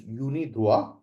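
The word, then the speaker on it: UNIDROIT: written as draw it in English but it's pronounced properly as Unida uh and the body that maintains is United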